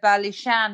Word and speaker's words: Ballyshane: images there, the website, while the house is pronounced Ballyshane, it's actually spelt as Ballyshane House.